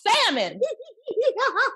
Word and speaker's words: salmon: And he was like, God damn it is salmon. The L is silent.